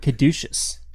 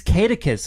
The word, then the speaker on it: caduceus: I did learn how to pronounce the word caduceus. Caduceus? Yeah. What does caduceus mean? Well, it means catechus, which is how I've been saying it for the past all of my years.